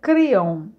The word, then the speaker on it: Kryon: uma energia muito boa nossos amigos de língua francesa tem pronunciado criam por anos e até mesmo escrevem o nome diferentemente criam portanto fale da